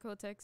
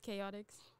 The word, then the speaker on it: KOTX: It's not pronounced Kotex, it's Chaotix.